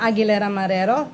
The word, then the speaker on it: Aguilera-Marrero: Well, first of all, it's Aguilera-Marrero, but you call me.